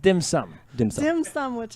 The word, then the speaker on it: dim sum: It's pronounced dim sum.